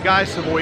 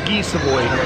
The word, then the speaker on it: Guy Savoy: It's not Guy Savoy, it's Guy Savoy. That's the French pronunciation of the name.